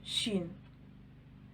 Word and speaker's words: ش: the ladder before it the letter sheen it is like the letters sh in the word show is pronounced the ladder